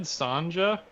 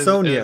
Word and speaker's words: Sonja: this out loud before is it red sanja no it's sonia is that how you say it sonia red sonja i thought it might be sonia but i wasn't positive um yeah okay well there's